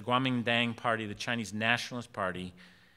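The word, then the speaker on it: Kuomintang: uh which is uh they pronounced it the Guamin Dang some people again say that starts with a K but it's the Guaming Dang party the Chinese nationalist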